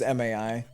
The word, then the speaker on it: MAI: It was MAI. But I'm gonna pronounce it Mai because it's just shorter.